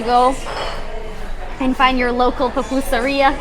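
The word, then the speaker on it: pupusería: and find your local papoosa riya is how you say it or salvadorian restaurant or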